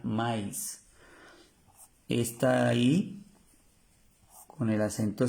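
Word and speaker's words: maïs: ya la habíamos visto el maíz tiene el acento como se llama ese acento los dos punticos trema maís maís pronuncia mais est ahí con el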